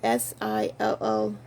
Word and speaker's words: Schuyler: I never can pronounce it. So it's SILLCIC.